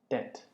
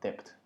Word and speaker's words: debt: and learn about college life，新生训练之类的。好，先来练单词。First one, mortgage, debt, statistics, asset, transaction, analysis, fiscal, deficit。那左边绿色就是正确发音的方式，右边是很多人会念错的方式。比如说，讲第二个好了，一般人看到 B 可能会把 B 念出来叫 debt，对，那其实这边左边就写说 B 是不发音的，OK。Alright, one more time.